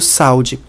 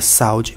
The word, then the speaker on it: saúde: na palavra saúde porque eu não pronuncio saud se a palavra u fosse uma semivogal a pronúncia da palavra seria saud mas ninguém pronuncia saúde pronuncia saúde então quando eu tenho uma